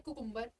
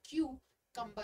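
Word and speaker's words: cucumber: वो करते आए हैं कुकुम्बर। बहुत जगह सुना है कुकुम्बर सैलेड, कुकुम्बर सैंडविच, लेकिन ये कुकुम्बर नहीं होता है, क्यूकम्बर होता है।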